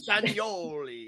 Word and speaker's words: Castagnoli: I was trying to pronounce it properly, not making fun of it. Castagnoli.